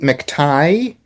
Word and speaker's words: McTighe: I'm pretty sure it's pronounced Pete McTighe. Yeah, Oh, Hematite, right?